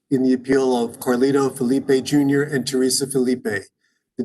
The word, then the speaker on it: Felipe: way mr felipe i assume that is that pronunciation correct felipe yeah my first name is garnito my last name is felipe okay thank you um then after the testimony